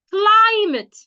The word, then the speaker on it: climate: When you have a word that has 2 syllables, and it's a noun, you are expected to stress the first syllable. An example is climate. Climate. Climate, not climate.